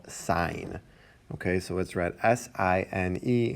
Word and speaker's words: sine: and we say sign its abbreviation is just the first three letters that's i am but we do not read that as sin we read that as sign okay the second one